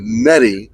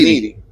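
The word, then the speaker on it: Nedy: And then when I made it to United States, I would tell my name is Netty. Then people see my name written and it was always needy cuz that's how you pronounce that.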